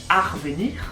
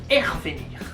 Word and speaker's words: revenir: Selon le département où tu te situes, on ne prononce pas le préfixe re de la même façon.